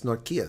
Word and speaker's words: Nortje: How do you get Norkia out of that? I mean, it's spelled it's spelled Norchi. That's it. Stephen Norchi, but it's Norkia, so it's Dutch.